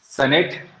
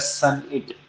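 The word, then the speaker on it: sonnet: तो ऑप्शन है आपको, सनेट, ड्रामेटिक वर्स, लिरिक या एलेजी। तो इसका आंसर है ए, यानी सनेट। ठीक है, इसको बोला जाता है सन इट। इसका प्रोनाउंसिएशन क्या है, सन इट, सॉनेट नहीं है।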